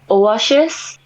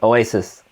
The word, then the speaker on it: Oasis: Shis 너 사실 너 shis 할 때 너 SHIS이라고 하고 있는데 그냥 sis이야. Oasis. 오아시스. Like that. Sis. 다시 말해. Sis. Yeah, sis like six. Same. Oasis.